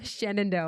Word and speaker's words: Shenandoah: The way it's spelled. Shenandoah. I was like, Shenanigans University.